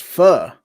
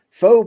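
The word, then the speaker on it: phở: So, I pronounced it wrong. According to Sandy, because according to Sandy, it's pronounced fu.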